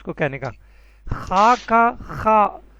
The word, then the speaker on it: خ: خا کا خا اس کا تلفظ ہے خا.